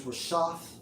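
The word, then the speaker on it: רֶשֶׁת: the brother's lesson, and it's Strong's H 7568, pronounced as Rashath, and definition 3 of leaders leading people to sin.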